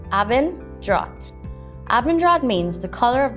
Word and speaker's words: Abendrot: e n d r o t avenger is pronounced aben drat abendrad means the color of the sky while